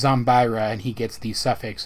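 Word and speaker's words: Zombyra: versions of the card game respectively here it's pronounced zombira and he gets the suffix the dark but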